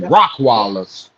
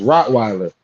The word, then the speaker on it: Rottweiler: Yeah, but I'm say it's a Rottweiler, but he calls him Rottwallers. He's educated. He don't know how to say it. Yeah, he don't know how to say it. Yeah, he don't know how to say the word. No, he don't. Be like Rockaller. It ain't Rocke, bro. It's Rottweiler. You know what I'm saying? But he call it a Rockweiler.